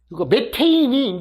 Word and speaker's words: 메테인: 그래서 보통 우리가 메탄 같은 것도 THN이 해갖고 메탄 이라는데, 요거는요, 탄이라고 읽으면은 이게 독일어거든요. 독일어. 그 다음에 이거 메테인이 이제 영어예요. 그러니까 메탄 똑같다는 얘기예요.